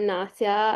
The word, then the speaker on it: Nasia: Now on to Nausea. Nausea? Sorry if I mispronounced that. No, you got it right. Hi, everyone. I'm Nasia. I just graduated from U of T Ken this June.